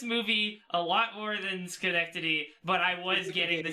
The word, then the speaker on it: Schenectady: I think I got like, you brought up Schenectady earlier, and I only sat through like, it's pronounced Schenectady. Schenectady.